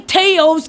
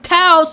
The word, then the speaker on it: Taos: taos new mexico but don't say teos because it's pronounced taos and the locals get